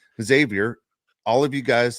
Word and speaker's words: Xavier: Okay, how do you pronounce an X then? As a Z. As a Z. Oh, it's Xavier. Xavier.